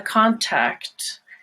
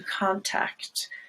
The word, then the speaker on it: contact: at examples of that one example where that is not true is the word contact it's a contact and to contact and the opposite can